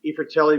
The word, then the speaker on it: i Fratelli: ifritelli means the brothers uh the eye is pronounced e because it's italian word and fratelli is plural